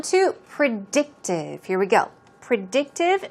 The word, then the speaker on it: predictive: Predictive, stress goes on the second syllable.